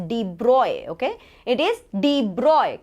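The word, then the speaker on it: de Broglie: things a little bit so we call it de brogly but it's actually not pronounced as de brogly it's deep broy okay it is the broy corrector okay concept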